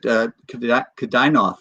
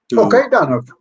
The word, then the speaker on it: Kaidanov: I might be mispronouncing his name, but Kadainov was another one. Kaidanov. Yeah, yes.